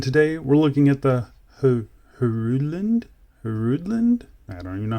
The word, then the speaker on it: Hruodland: to pronounce it but i think i think the h is kind of silent so i'm just going to call it the hrudland hridland royal oak homage model